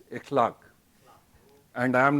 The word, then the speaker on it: Ekhlaq: don't know me uh my name mispronounced is a clock but pronounced correctly it's with a ap glottis a clock and i am not